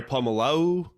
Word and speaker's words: Polamalu: Troy Polamalu.